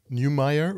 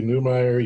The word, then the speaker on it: Neumeier: like that you have kept your name Neumayer which is kind of the German spelling but the the English pronunciation so yeah we just